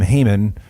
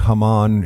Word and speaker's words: Haman: Usually we call him Haman. That is not at all how his name would have been pronounced. All those many years ago. I think Haman is much more accurate.